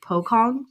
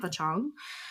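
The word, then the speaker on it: pocong: an entity called pong but it's spelled p c o n g so it looks like poong but it's pong um and it is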